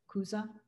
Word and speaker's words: Chuza: husband is, and so it's Chuza with a hard C, not C-H, Chuza, is that? I think that's how you pronounce it, yes.